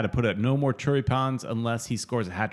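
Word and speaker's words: choripán: All three supporters clubs came together, and Southern Legion always cooks these choripans.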